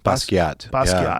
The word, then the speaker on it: Basquiat: baskets or how do you say his name basquiat yeah these are lost warriors why didn't he